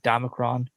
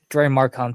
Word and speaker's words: Drymarchon: But they're like up there, I think, with the intelligence level, or almost up there with like Dimacron. I can never pronounce it right. Drymarchon.